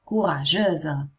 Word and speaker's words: courageuse: Cambia la pronuncia? Certo. Questo diventa courageux e questo invece è courageuse.